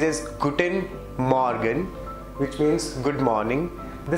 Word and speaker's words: Guten Morgen: It's Guten Morgen. Some people pronounce it as Guten Morgen.